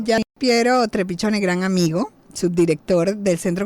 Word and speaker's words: Trepiccione: Por eso, bueno, su Twitter @polis360, y en Instagram y Facebook lo pueden encontrar como Piero Trepichone. Chone se escribe CCI sin la H, porque bueno, tiene su descendencia italiana, nuestro amigo Piero, a